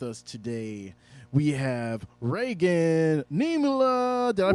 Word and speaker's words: Niemela: All right, so with us today, we have Raegan Niemela. Did I pronounce that right?